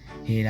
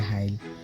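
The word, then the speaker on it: Hail: Kuwait Kuwait to হেল মানে এটার বানানটা হচ্ছে গিয়ে এইচ এ আই এল হেল আর মানে মানুষে বলে হাইল সো যাই হোক আমার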